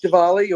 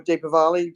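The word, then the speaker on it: Diwali: guys have been noticing so it's deali or Deepa valy depending on how you say it where you are um uh new delhi's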